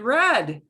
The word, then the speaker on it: read: couple of times and red and red is like put we never say readed red yeah and it spelled the same but it's pronounced differently i read every day